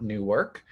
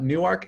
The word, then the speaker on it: Newark: our students um we are housed in uh newark delaware um for all of you in this great state of pennsylvania it is newark and not new work um that is a big stickler point and